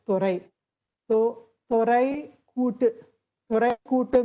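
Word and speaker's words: துரை: So in Tamil, Dorai is pronounced as Thorai.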